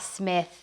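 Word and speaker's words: Psmith: damsel in distress ah smith the p of course is silent smith is also right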